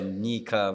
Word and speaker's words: Nyika: And it's more, and you were telling me it's more of a N-Y-E. Yeah. So it's a Nyika, which is the right pronunciation. Emphasis on the Nyika.